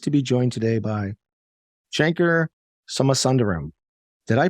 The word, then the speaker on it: Shankar Somasundaram: and I'm pleased to be joined today by Shanker summer sunderram did I pronounce that correctly that is correct all right